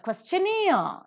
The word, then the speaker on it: questionnaire: Question, the first syllable is accented, but questionnaire, no is accented here.